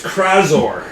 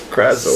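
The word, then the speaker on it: Crazor: My name is Kraor. Krazor.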